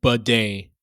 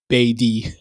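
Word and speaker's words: Badie: Tyler Batty's name is pronounced Bidet, similar to Bidet. This is a recent change, and he previously went by Beatty.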